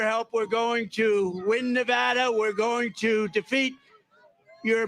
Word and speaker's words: Nevada: You know the state, we love it and you always have to say it correctly. Nevada. You ain't got to go with Nevada.